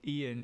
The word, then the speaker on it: Eoin: way of um naming names I guess so Ian is you know that the spelling's different in